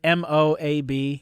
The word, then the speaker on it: Moab: Moab, I've heard people pronounce that pretty funny because it's just Moab.